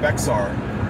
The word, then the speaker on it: Bexar: For those not from Texas, B-E-X-A-R. But it's spelled like Bexar. It's spelled like Bexar, but it's Bexar, and it's San Antonio.